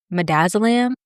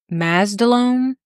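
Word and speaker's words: midazolam: While talking he mispronounced madazzylam or versid calling it mazdalone or something like that.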